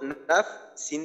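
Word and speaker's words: نفس: আর যদি ওয়াকফ করি, ওয়াকফ করলে এখানে একসাথে দুইটা জজমের উচ্চারণ করতে হবে। সিনেও জজম করে তাহলে এমন হবে উচ্চারণটা, জাকিয়াতাম বিগইরি নাফস, নাফস। ফার উচ্চারণ শেষে সিনের মাখরাজে গিয়ে একটু বাতাস বের করে দিতে হবে।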